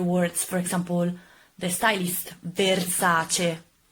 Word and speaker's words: Versace: a not E in Italian is a and pronounce it other words for example the stylist Versace not Versace salami salami salami salami salami salami salami allow